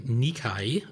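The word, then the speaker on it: Nikkei: Um, Japanese publication Nikai is how I believe you're supposed to pronounce that is reporting that new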